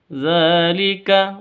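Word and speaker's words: ذَٰلِكَ: Dzalika dza di sini panjang dibaca panjang dua ketukan karena ada tanda berdiri atau ada harakat berdiri di atasnya zal seperti alif maka panjang dua ketukan.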